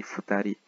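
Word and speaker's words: 二人: Mais pour le 1 et le 2, la prononciation change.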